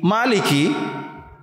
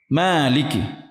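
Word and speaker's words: مالك: Dalam Surah Al-Fatihah, bacaan Hafs membacanya panjang: Maliki. Di antara 10 Imam. Di antara 10 Imam, hanya dua Imam yang membacanya panjang: Maaliki. Semua Imam lainnya membacanya dengan gaya Maliki .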